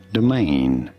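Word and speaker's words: demesne: it the main domain you do want to stress on the second syllable on the main syllable domain pretty straightforward once you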